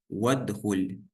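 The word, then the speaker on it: وادخل: Например, возьмем это слово «вадхуль». То есть это отдельно. Вау отдельно, слово «удхуль» отдельно. Но при соединении уже не читается аль-васль. Сразу же переходим с вава на даль.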